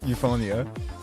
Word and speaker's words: Euphonia: Euphonia? Yeah, that's exactly how you pronounce that. Yep, Euphonia.